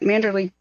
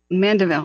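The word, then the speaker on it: Mandeville: need a couple more helicop um leave that manderly Canyon thing sorry I'm saying it wrong I'm very sleep deprived at this point uh I I would mandaville excuse me Canyon I would be leaving ASAP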